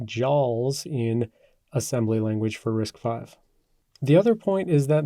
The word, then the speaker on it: RISC-V: V is not pronounced risk V it's pronounced risk 5 and that's because this is the fifth iteration of the Berkeley reduced instruction set computer or risk architecture and I think we